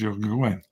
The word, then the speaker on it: Joaquin: It's Joaquin. I'd take the J silent.